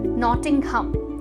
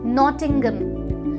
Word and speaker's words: नॉटिंघम: देख सकते हैं और कहते हैं हम नॉटिंघम लेकिन इसकी सही प्रनंसीएशन है नॉटिंघम नॉटिंघम जहां पर जो है वह साइलेंट होता है और नॉटिंघम बन जाता है चलिए